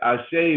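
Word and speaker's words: Ase: about what i say means dr akua yes i say means i agree it means let it be so and it's spelled a-s-e with an accent if you can't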